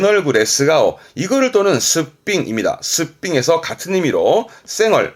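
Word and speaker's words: 素っぴん: 이거를 또는 스삥입니다.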